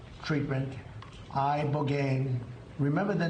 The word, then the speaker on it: ibogaine: In 2024 study from Stanford University, 30 special operation veterans with traumatic brain injuries underwent, it's called ibogaine treatment, ibogaine. Remember the name. Is that pronounced relatively properly, would you say?